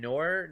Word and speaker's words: noir: Okay, so Spider-Man Shattered Dimensions, great game, but the weirdest thing, because the Spider-Man Noir, how do you say that section?